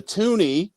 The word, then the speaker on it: toonie: loon on it the toonie is is called a toonie because uh it is two for two dollars and it was it rhymes with looney so looney tutuni that's